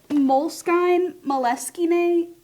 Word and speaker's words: Moleskine: Definitely moleskin. For sure. Well, it shouldn't have an E on the end of it. Moleskine. It shouldn't have an E on the end of it. You're not going to pronounce it.